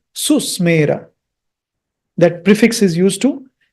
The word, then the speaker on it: सुस्मेर: Om Susmera, Om Susmera, Susmera, Susmera, Tan, not Tana, Tan.